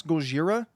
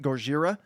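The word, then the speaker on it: ゴジラ: a white American man, you can't mispronounce Gojira. Even if you want to pronounce it like a white guy, you say it like I'm saying it, right? Gojira. You don't say Godzilla. Like the two don't sound the same.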